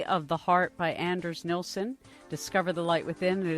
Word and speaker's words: Nilsson: nielsen dr nilson's book the nilsson i think is how you say it in swedish something like that the